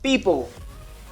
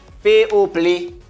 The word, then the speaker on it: people: Yo dit P-O-Play. Ou pas en anglais, ou dit P-O-Play? Non. C'est pas anglais.